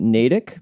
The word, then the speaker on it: Natick: Is it Natk by any chance? That's the correct. And how is it pronounced in the book? It keeps saying Natic. Natic.